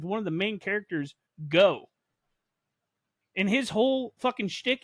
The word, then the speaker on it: Goh: Like, my man's name is Go. GOH though. It's spelled GOH.